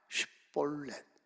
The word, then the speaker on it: 쉿볼렛: 이 쉿볼렛 이 발음이 잘 안 나와. 이게 발음이 안 돼. 에브라임 지파는 그 쉿이란 말을 발음 못 해.